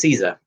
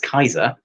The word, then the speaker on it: Caesar: is actually pronounced aiulius kaiser um because it wasn't j wasn't the hard j um and all c's are ker so kaiser not caesar um and then uh